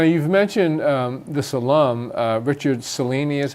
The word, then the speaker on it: Cellini: So now you've mentioned this alum, Richard Cellini is how That's you pronounce it.